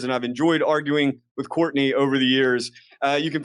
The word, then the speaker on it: Courtenay: It is pronounced Courtenay, but it's spelled like Courtenay.